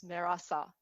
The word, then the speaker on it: Mehrasa: exist in english so when i want to pronounce my name tell my name to uh non-persians non-iranians i would usually leave out the h and just say my name is merasa to just make their life their life easier okay because i was